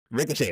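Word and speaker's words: Risacher: Zachary Rizaché out of France. Ricochet is correct.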